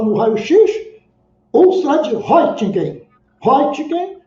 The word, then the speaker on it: Röntgen: Röntgen, segundo consta lá, é assim que se pronuncia, tá?